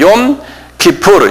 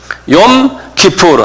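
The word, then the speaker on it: 욤 키푸르: 욤 기풀. 요건 그 통째로 그냥 외우셔야 돼요. 욤 기풀. 한 발음해 보세요.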